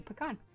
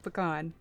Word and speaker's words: pecan: the history of it it should be pecan absolutely yup can't change my mind all right first ten minutes all about the pronunciation of pecan i i used precious voice minutes uh debating that so it should count okay both are correct i say both it depends yeah kim